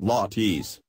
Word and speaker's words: latte: It's a homage to the island's famous lattes, pronounced lattes, two-piece stone pillars that, for centuries, the indigenous Chamorros erected as the foundation of traditional buildings.